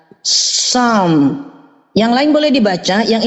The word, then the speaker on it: Psalm: Psalm, tapi P nggak boleh dibaca. Psalm.